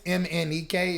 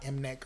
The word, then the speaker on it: MNEK: Love, and his name is Emanike. It's spelled just the way it sounds. Like it's not Mnek or something weird like that. Emanike.